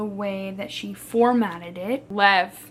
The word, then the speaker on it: Lev: Lev, that's his name. Lev, not Levi. I was saying it wrong, but you know, I don't care.